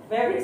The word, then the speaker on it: favorite: Favorite hanya dua silabelnya. Favorite. Jangan favorite jadi tiga itu kan.